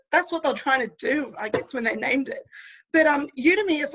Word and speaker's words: Udemy: Now, what is Udemy, or how do you pronounce it? Udemy.